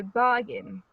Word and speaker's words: bargain: Okay, where is the stress? Begging. On ba or on gin? Ba. Yes, you see the sign here, it means stress, and we put it before the stressed syllable, so bargain.